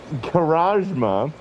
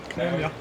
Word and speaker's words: Karamja: Karamja. Karajma. I think the Karajma Hall. Yeah. I thought it was the M first. Am I wrong? It is. You are correct.